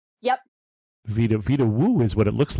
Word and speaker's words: Vedauwoo: You're saying it's spelled like it sounds, so it's Vedauwoo. Yep. Vitawu is what it looks like. They pronounce the V like a W, but I don't quite know how they do it.